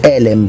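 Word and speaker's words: עֶלֶם: Ah no, scusate, elem perché è doppio più segol, quindi accento sulla prima sul sulla prima e.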